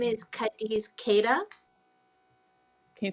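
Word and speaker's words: Cadiz: for the black network is his name is kadis kada can you spell it yes kadis is c a d i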